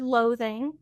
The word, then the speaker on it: loathing: We talked earlier about the word loathing. So the weird emphasis on the second syllable is not really common for a lot of two-syllable English words, but also the entire